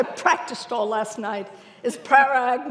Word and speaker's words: Parag: And last but not least, and I'm going to say it right because I practiced all last night, is Parag, not prerogative, Sagankar, who has the pain and the privilege of leading Deloitte's GBS operations.